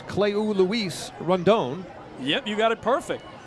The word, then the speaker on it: Rondon: It's Cleu Luis Rondon. Yep, you got it perfect. There are about 14 ways to pronounce his first name, but that is the way to pronounce it.